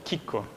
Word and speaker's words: Chicco: Like all kinds of, you know, when you feed them or, it's called chicco, okay?